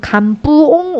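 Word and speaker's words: Cần Vương: 운동은 근황 운동이라고 얘기해요 근데 이제 베트남 발음으로는 감 뿡 운동만 이름이 좀 크죠 그런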